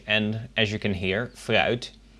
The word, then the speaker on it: fruit: Het fruit. Spelled the same as in English. And as you can hear, fruit, the F is pronounced pretty much as the V I pronounced earlier.